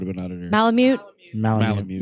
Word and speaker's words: Malamute: Malamute. Malamute. Malmite.